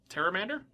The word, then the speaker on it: Pteramander: Pteramander? Was that how? That's how I corrected you to pronounce it. I don't know how to pronounce this card. I didn't know Pterodactyl. I assume I'm right. I didn't know Pterodactyl had a P.